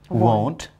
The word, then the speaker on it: won't: t right chant and will becomes won't but it must be different from want in pronunciation w-a-n-t want is different from w-o and apostrophe t won't that is will not